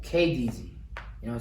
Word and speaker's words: KynnDZY: KynnDZY. And it's pronounced like King, just not as heavy on the G part. You know what I'm saying? So that KynnDZY.